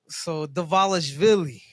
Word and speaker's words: Dvalishvili: I believe it's somehow it's the V, like it turns into a V. Yeah. So Dvalishvili.